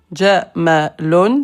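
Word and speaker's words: جمل: Jamalon, c'est un chameau. Jamalon. Si tu prolonges, Jamalon, beauté.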